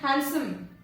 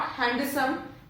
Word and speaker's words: handsome: Next is handsome, not handsome.